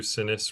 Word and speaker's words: Sinis: Okay, so my name is Sinis, rhymes with Guinness, if you like drinking and even if you don't.